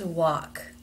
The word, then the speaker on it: walk: people up work and walk let's take a look at the IPA transcriptions first notice that the word walk even though it is spelled with an L has no l sound in it the word work is